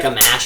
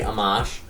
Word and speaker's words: Amash: I feel like Amash I like because it rhymes with smash. But I think it's actually Amash.